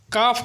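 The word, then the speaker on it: calf: बछड़ा इसे इंग्लिश में काफ कहते हैं क्या कहते हैं काफ इसमें एल साइलेंट होता है यह है भैंस इसे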